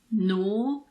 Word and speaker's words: gnaw: Well, we don't pronounce the G if it's followed by an N at the beginning of a word. But there aren't that many words like this. Some examples are gnat, gnaw, gnome.